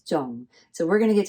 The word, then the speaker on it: 重: mistake because you're thinking, oh, it has to be 청, but actually no, it is zung.